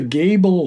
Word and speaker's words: Gable: name of it Kev it's called the Gable film it's spelled Gable g a b l e okay just like the House of the Seven Gables exactly okay interesting yeah